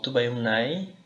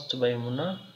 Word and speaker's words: Tubaimuna: There is the word Tubaimuna or Tubaimunai. Some people pronounce it differently. Some pronounce Tubaimuna, others pronounce Tubaimunai.